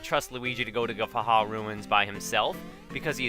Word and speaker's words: Guffawha: And it is Guffawha Ruins, even though I had trouble pronouncing it in the last episode, because the orthography of Guffawha is weird, even though it's just Guffaw and then ha, because Guffaw is a kind of laughter, but with the W